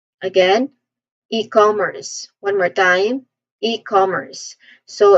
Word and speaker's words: e-commerce: and services online e-commerce pronunciation wise the first syllable is e So we see it as e which is which is leaning more on long e sound. This part has the first stress and then com second syllable. This part has the second stress com. It's uh it is a short o sound. So com. And then finally with earth. The letter r here is pronounced clearly.